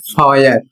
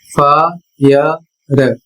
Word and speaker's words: fire: आयु यहां पर इसको लोग पढ़ते हैं फय फ य र लेकिन यह सही नहीं है। इसका सही उच्चारण होता है फायर।